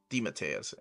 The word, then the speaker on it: DeMatteis: He told me how to pronounce it. He's like, yeah, I let people pronounce it DeMatteis forever, but, you know, truly it's supposed to be DeMatteis. And I'm like, you got it, DeMatteis it is.